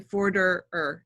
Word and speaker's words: Forderer: It's actually Forderer. That's how it's spelled, E-R-E-R.